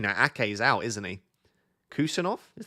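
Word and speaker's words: Khusanov: Kusanov is pronounced with an F instead of a V. Kusanov, like that.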